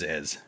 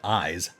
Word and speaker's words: Iz: So it is Iz. I could have sworn someone else pronounced it Eyes.